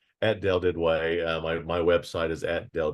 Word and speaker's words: Duduit: It's at Del Didway. My website is at Del Didway, and the last name is spelled Duduit.